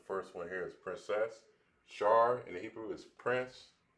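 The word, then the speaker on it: שר: Prince in the Hebrew is pronounced as Shar.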